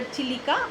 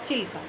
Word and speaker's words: Chilika: But or acha children, now I will tell you, Chilka can be pronounced either Chilika or Chilka, both can be correct options.